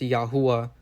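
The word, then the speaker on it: YHWH: You know, in the video I said it was Yahweh. And I did research and you guys are actually right. You know, the correct pronunciation of God's name which is spelled Y HWH is actually pronounced Yahwa.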